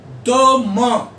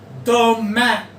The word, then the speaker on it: demain: One is demain or demain. मां और ए. demain, demain दोनों ठीक है.